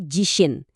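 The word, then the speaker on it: 地震: Dibacanya jishin.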